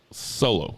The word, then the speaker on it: Solo: Solo.